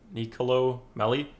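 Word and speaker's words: Nicolò Melli: you say his name nicolo nicolo melli yeah something like that i think they call him nico nico melli out for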